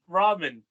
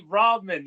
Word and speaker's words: ramen: It's like how people say ramen. You just say ramen. You don't go ramen. You know, No. Instead they go ramen.